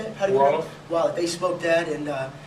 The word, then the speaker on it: Wolof: They spoke Wallet. How do you say it? Wolof.